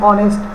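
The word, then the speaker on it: honest: এবং দেখো পরে অ্যান অনেস্ট ম্যান, an hour, এখানে অনেস্ট এইচটা অয়ের মতো উচ্চারিত হয়েছে এই জন্য অ্যান।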